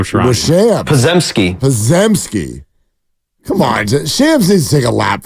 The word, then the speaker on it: Shams: just pronounced that correctly yeah it's Shams by the way is it really yeah